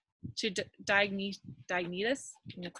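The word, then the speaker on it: Diognetus: included in your notes this letter to diagnose diagnosis that's how you say his name from the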